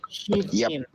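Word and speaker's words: שבעים: And this is an example of a closed syllable, shiv, and another closed syllable, im. Shiv im means 70.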